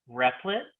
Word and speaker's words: Replit: And also recently I've been using Replit. Is that how to say it? Yeah, or we just call it REPL, but yes, absolutely.